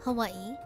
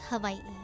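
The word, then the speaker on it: Hawaiʻi: A lot of local people say Hawaii. A lot of people say Hawaii, but in Hawaiian it's havi like with a V.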